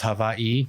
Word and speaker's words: Hawaii: Hawaii is actually pronounced Hawaii by the native culture.